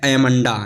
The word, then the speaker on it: Amanda: Then अब हम बात करने वाले हैं अगले इंपॉर्टेंट सेंट्रल आइडिया, जो कि है एमंडा या फिर अमंदा भी, आप हिंदी में प्रोनाउंसिएशन अमंदा भी आप इसको कह सकते हो, वैसे तो ये एमेंडा है।